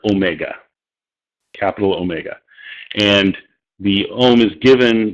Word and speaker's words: omega: is the same as its first syllable is, well, ohm.